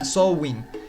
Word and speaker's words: Samhain: como samhain pronunciado bueno se escribe samhein se lo pondrá aquí en pantalla pero se pronuncia show in y esto significa el